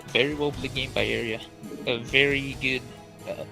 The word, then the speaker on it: Arya: It looks like people in the chat are correcting my pronunciation of Arya. They're saying it's Arya.